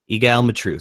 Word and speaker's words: Egal Matreaux: I'm here with, how do you pronounce that name? Egal Matreaux. Egal Matreaux.